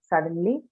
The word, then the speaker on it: suddenly: But to your information, both of them, elevate and execute, both of them are stressed on the first syllable, okay?